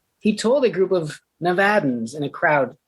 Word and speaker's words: Nevada: or las vegas it's nevada like sad for the final time